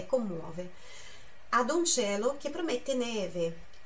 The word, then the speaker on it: cielo: Ad un cielo che promette neve.